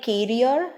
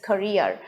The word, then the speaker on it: career: of today's video is korea c-a-r-w-e-r is neither carrier not carrier it is career so let me tell you two important information